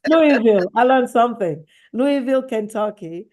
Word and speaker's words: Louisville: recruited to teach in Louisville. Louisville Mhm. or Louisville, Kentucky? Louisville. Louisville, Kentucky. Louisville. Louisville. There you go. Thank you. Everyone says it wrong. It's all right. Louisville.